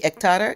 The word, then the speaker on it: ektara: Okay, since you have your instrument in your hand, that's the ektara. Is that how you pronounce it?